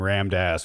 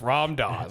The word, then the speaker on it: Ram Dass: but that's the situation rammed ass was probably just like hey i'm dead okay it's rom daws i was like we mispronounced things too much right are you saying